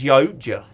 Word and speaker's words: Yautja: Yeah, it's Yautja is Yautja. phonetically what it is. Yeah, so it's Yautja. Yautja, I was saying it correct.